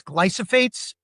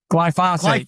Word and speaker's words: glyphosate: I want to cover, you mention a lot, I believe it's glyphosates. Am I saying it right? Glyphosate. Glyphosate, excuse me.